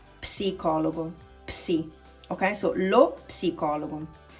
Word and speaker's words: psicologo: In English, you don't pronounce psychologist, you don't pronounce the P, but in Italian, you have to pronounce it, okay? It's not psicologo, but it's psicologo, psi, okay?